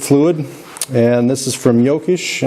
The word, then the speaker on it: Jokisch: and this is from yokish i'm going to pronounce it the german way this is the coolant